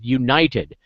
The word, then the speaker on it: Younited: And I want to talk tonight about a particular thing that we're doing called United. Now I'm going to spell that.